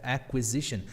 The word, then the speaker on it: acquisition: Acquisition. Diferente do português, onde falamos aquisição. Ah, no inglês tem esse som de u. O i, o U e o I são pronunciáveis. Aquele o U não é mudo.